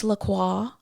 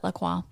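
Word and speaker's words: LaCroix: that's so fantastic so it really is a French word I mean it's l a like he said it right yeah c r o iix but like nobody said says laqua like how bougie do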